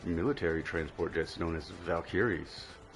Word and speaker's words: Valkyrie: transport jets known as valkyis. Most of you would have pronounced that as valkyries but my mom is German and she has taught me that it is valkyis.